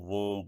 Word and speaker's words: वूम: ब इसमें साइलेंट है इसी तरह वूम भी आएगा तो उसमें ब नहीं पढ़ा जाता वम पढ़ा जाता है एंड द वाइन